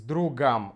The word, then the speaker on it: другом: Следующий момент – это, конечно, мы должны заменить здесь «о» на «а» с «другом». Пойду в кино с другом. С другом ударение на «у», поэтому здесь «а».